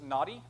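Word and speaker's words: Nati: his name real quick his name is naughty saint goodom yes he is our naughty saint but it's it's spelled differently it's just n-a-t-i so we trust them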